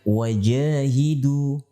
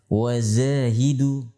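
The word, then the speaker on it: وجاهدوا: Sehingga ketika mengucapkan wajahidu, diucapkan wazahidu. Apa pengaruh kesalahan pengucapan tersebut?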